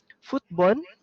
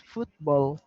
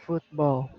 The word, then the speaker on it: football: example he said here football but it's football football so you need to you need to pronounce the l and put your tongue at the back of your teeth so football again football that's good